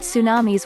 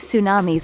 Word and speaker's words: tsunamis: as in the japanese some english speakers alter the words initial ts to an s by dropping the t since english does not